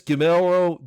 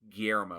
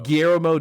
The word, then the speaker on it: Guillermo: directed by the genius gimelro del toro i didn't pronounce it right guillermo guillermo del toro yeah there you